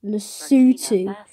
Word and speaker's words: Lesotho: They literally pronounce it wrong. It's pronounced Lesotho.